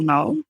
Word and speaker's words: Knowles: whatever, mine is Knowles. The is spelled a little bit funny. It's and then Knowles like Beyonce _ So I love that.